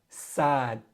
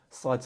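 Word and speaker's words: صاد: All right, this sound is unique to the Arabic language.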